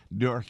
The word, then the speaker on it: Newark: That's Newark. Yeah. We're all Newark, guys. Isn't everybody from Newark originally in Jersey? Newark. That's it. My good friend Steve Malanga from City Journal. Yeah, Newark.